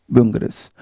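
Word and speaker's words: Bungarus: फिर है बैंगरस, हालांकि स्पेलिंग ठीक नहीं है बट एनसीईआरटी में यही लिखी हुई है। एक बुंगरस शब्द लिखना चाहिए था ना यहाँ पर, है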